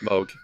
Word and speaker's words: Moog: It looks like Moog, but it's pronounced Moog.